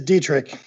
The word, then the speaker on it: Dietrich: this week is Erik Dietrich hello and dietrich dietrich did I now that I've introduced you did I get that wrong as a Dietrich it is Dietrich okay very good and